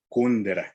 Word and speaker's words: Kundera: autor checo milan kundera es decir acentuando su nombre como si fuera una palabra aguda milán y copia de su apellido como si fuera una y lo pronuncian en su propio país y acentuar el nombre como si fuera grave milán y el apellido como si fuera estructura desde una palabra esdrújula kundera entonces en vez de